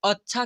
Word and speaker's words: अच्छा: क्या लिखा हुआ है यहां पर अ लिखा हुआ है और यहां पर आधा छ और छ में आ की मात्रा है तो इसे अच्छा कैसे पढ़ दे रहा हूं च